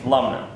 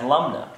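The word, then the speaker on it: Lumnah: of funny because it the way it looks is how it sounds Lum n and that's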